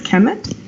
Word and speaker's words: Kemet: standard kmt but we pronounce it or they pronounced it on their websites like between brackets as Kemet and it literally means the black hand and